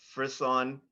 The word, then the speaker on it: frisson: Your word has two correct pronunciations. Frisson, frisson.